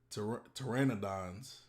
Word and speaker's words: Pteranodon: the terror the pterodact pteranodons of the ancient um i think the p is silent it do start with